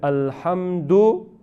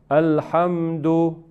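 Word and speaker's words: الحمد: Ahora, si usted quiere hacer la pausa, hacer el waqf en alhamdu, no podemos decir alhamdu. No, tiene que convertirlo o cambiarlo con un sukun. Dice alhamd.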